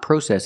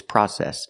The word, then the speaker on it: process: the seat belts first it's not process it's process the process of putting